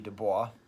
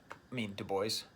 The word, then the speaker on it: Du Bois: Du Bois, Du Bois, sorry. As a French professor, I have a hard time pronouncing Du Bois's name the way he wants me to pronounce it.